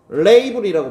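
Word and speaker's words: label: 정확하게 인식하고 그리고 레이블이라고 발음합니다.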